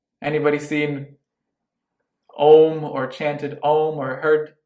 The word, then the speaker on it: Om: human being can make when you say a a m is how om is spelled you're you see it spelled om but the letters are a m so uh say uh